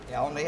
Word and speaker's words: Elliony: If I get your name wrong, Elney, I got it.